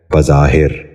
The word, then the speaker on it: بظاہر: یہ غلط تلفظ ہے، اس لفظ کا درست تلفظ ہے بظاہر۔ دوبارہ سنیے، بظاہر۔ بچوں آپ بھی غور سے